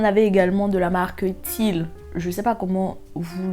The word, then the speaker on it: Tile: Mais vous en avez également de la marque Tile. Je sais pas comment vous le prononcez, c'est Tile, T-I-L-E.